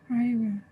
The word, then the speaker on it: river: But actually, the way we say this word is river. Okay. It's not the I sound. It's the eh sound.